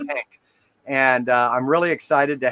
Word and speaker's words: Henk: I pronounce it right, Henk, You because it's with did. an Yep. E, not with an A. I almost called you Hank before, but it's Henk.